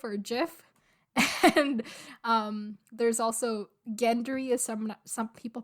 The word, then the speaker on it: Gendry: And there's also Gendry, as some people pronounce it Gendry. So Gendry? yeah, like Gender-y.